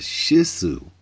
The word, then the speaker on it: Shih Tzu: He's a Shih Tzu.